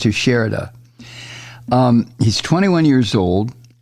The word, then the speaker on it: Teixeira: all these military Secrets I think his name is pronounced to shirda to shirda I think it's Portuguese name or Spanish name i I don't know but I believe it's pronounced to sherida um he's 21 years